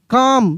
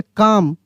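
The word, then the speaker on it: calm: सी ए एल एम एम वाला देखिए काम क्या पढ़ेंगे? काम पी ए एल एम पाम।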